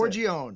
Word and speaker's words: Forgione: So, last name, I'm not good on the pronunciation. Forgione? How do I say it? Forgione.